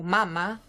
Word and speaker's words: mama: tonique donc par exemple il y a le mot Mama avec l'accent sur la première syllabe qui veut dire sain et le mot Mama